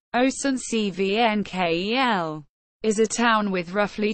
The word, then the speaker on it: Oestrich-Winkel: Oestrich-Winkel, German pronunciation, Oestrich-Winkel, is a town with roughly 12,000 inhabitants in the Rheingau-Taunus-Kreis in the Regierungsbezirk of Darmstadt in Hesse, Germany.